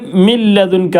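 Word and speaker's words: من لدنك: കൂട്ടി യോജിപ്പിച്ച് മിൻ റബ്ബിക്ക മിൻ ലദുൻക എന്നുള്ളത് മിൻ ലദുൻക അവിടെ നൂനെ വരുന്നില്ല ഉച്ചാരണത്തിൽ വരില്ല ആ നൂനിനെ മറ്റേ പിന്നെ അടുത്തുള്ള അക്ഷരത്തിലേക്ക് ലാമിലേക്ക് കൂട്ടി യോജിപ്പിച്ച് അപ്പൊ ഇങ്ങനത്തെ സ്ഥലത്ത് പിന്നെ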